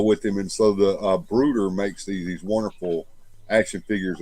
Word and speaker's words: Bruder: You need some policemen to go with him, and so the Brooder makes these wonderful action figures of policemen.